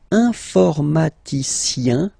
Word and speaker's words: informaticien: And the last group is IEN, informaticien, yin. So that's the way to pronounce this IEN, yin, okay?